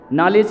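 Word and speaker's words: knowledge: नहीं है ध्यान रखिए नॉलेज की स्पेलिंग काहे से शुरू होती है के से और बोला क्या जाता है न यह कैसी भाषा है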